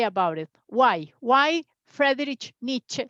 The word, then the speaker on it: Friedrich Nietzsche: As he was from German, we have to pronounce till the end. Friedrich Nietzsche.